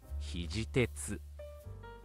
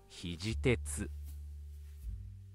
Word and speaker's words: 肘鉄: 肘鉄 means EL Iron in Japan Say All 肘鉄肘鉄肘鉄 One more time ひひひ J EXP EXP